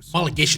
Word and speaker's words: homologation: In the 80s and 90s, technically advanced touring car homologation specials were homologation, that's how you pronounce it.